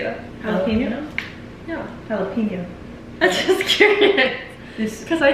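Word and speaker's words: jalapeño: no but that's how you say it it's jalapeno jalap how it's actually supposed to Beal if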